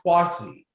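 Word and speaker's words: Kwasi: that's born on sunday your name is quasi which anglicized into quash if you're a boy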